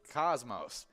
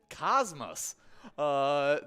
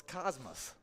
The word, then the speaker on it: Cosmos: the space term, but locals refer to the tiny town as with an us sound at the end. Interesting. Yeah. I would not have thought of that. So it's Cosmos.